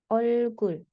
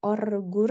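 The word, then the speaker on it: 얼굴: Kemudian ada olkul. Olgul. Nah, dua-duanya dibaca L. Jadi bukan orgur ya, tidak, karena tidak diapit oleh vokal.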